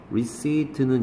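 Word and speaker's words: receipt: 전화하기 위해서 튜브 목이네요 receit는 영수증 피가 발음이 안나요 미시히트 컬쳐스는 listens에서 누군가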